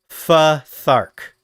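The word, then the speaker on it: Futhark: When they need to make a language, they just use a language called Elder Futar. That's pronounced fthark.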